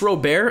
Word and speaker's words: Robert: is going to be Luis Robert, or Robert. I think you can pronounce it both ways. I'm going to call him Robert though, because that's how he says it in a video. They say it in Cuba.